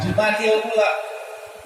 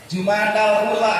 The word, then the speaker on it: Jumadil Ula: dengan kalimat Jumadil Ula, dan kita membacanya selalu dikhofatkan, dikasrohkan, Jumadil Ula. Itu sudah jadi kebiasaan. Padahal mungkin boleh juga kita baca dengan kalimat Jumadal Ula atau Jumadul Ula. Boleh saja, tapi tidak familiar.